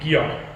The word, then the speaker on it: Giok: It's not a K like in my name, Klaas. It's like that's like a hard K. It's like aspirated. It's stronger. It's like a soft G. So when you see this letter, it means it has the sound G. The name is Giok.